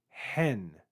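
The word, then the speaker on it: ἕν: that means not and hen be careful here because there's a rough breathing over the Epsilon and there's also an acute accent mark there hen hen the word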